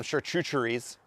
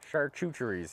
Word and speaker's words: charcuteries: uh some apple teeth we gotta have some churcheries charcuteries okay look let's let's i don't like church i don't like the pronunciation pronunciation of chartreutery chartreutery charcuterie charcuterie is